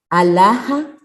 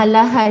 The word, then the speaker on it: alhaja: La pronuncia como uno cree que hablan los árabes, ¿verdad? No la pronuncia como una J de juego, por ejemplo.